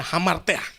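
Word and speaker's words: ἁμαρτία: ampunilah kami akan Dosa dalam bahasa Yunani itu tulis hamartiah bacanya Hammer teh ingat Roma ayat 623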